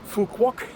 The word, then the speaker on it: Phu Quoc: We're back at the airport in Fukquok. And as you can hear, I learned how to say the name of the island properly. So the question is, is it worth flying to Fukok from Bangkok?